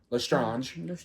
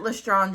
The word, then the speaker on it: Lestrange: Lestrange. They pronounce it Lestrange in the books, or in the audiobook, so. Well, it is a French name.